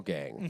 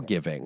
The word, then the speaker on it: GVNG: Like when we did a reaction to Girl Gang by XG, but they spell it Girl GVNG like it's an upside down A. Girl given. But you kept calling it Girl Giving.